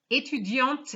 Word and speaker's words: étudiante: Étudiante here has an E and it's étudiante. So we pronounce the T because it's feminine.